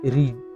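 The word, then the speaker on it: read: verb two দিতে হবে এটা অন্তিম উইথ আমি রিড ডেড আছে রিডের খবর জানো এর আসল রূপ রিড কিন্তু এর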